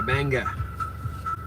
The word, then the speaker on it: Bangor: There's There's a few other ones where they take the R out and put it where it doesn't belong. Yeah. Banga.